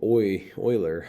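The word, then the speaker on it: Euler: might be like well Oiler that seems like it starts with an an O and Oiler is a mathematician and his name actually starts with an E, believe it or not.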